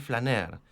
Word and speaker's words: flâneur: El poeta francés, el simbolista del siglo XIX, que acuñó el término del flâneur.